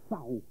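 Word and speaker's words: Sarrault: Le mot Saro, ça s'écrit S-A-2-R-A-U-L-T, mais c'est la phonétique.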